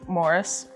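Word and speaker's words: Moeris: of a man named morris that's an m okay that's how it pronounces morris he used herbs and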